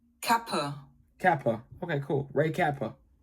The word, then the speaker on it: Kappe: he's an American on the market unnecessary kappa Kappa.